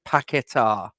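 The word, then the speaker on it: Paquetá: been a major disappointment I'm told it's packetar that's what I'm being told um I put porn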